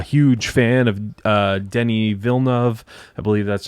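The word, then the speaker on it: Villeneuve: um i'm a huge fan of uh denny vilnev i believe that's how you pronounce that the director who did arrival sicario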